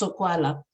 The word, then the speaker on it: Sokwala: Sokwala. It's phonetic. My gosh, it's Sokwala.